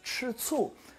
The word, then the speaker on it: 吃醋: 吃醋. It's that same sour taste here. So this one is pronounced 吃醋, and it actually means to be jealous at someone.